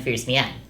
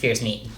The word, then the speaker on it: Fierce Mien: Camilla chips Fuga, assisted by Heartseeker and Fierce Mien, which I've since been informed is actually pronounced Fierce Mien, my bad.